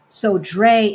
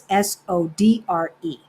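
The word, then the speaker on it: Sodré: It's spelled Cais, another word, Do, and then Sodre is how we would pronounce it in Spanish, kind of. Sodre, but they don't pronounce it that way. So it's Sodre.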